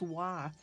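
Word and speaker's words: 和: there is an ideogram whose phonetic pronunciation is wah oh there you go that's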